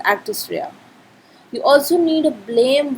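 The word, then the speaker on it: actus reus: known as actus rhea we pronounce it as actus rea you also need a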